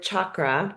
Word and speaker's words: chakra: And when we think about the word chakra as actually it's like sound it's pronounced in Sanskrit like you're saying chocolate um chakra and you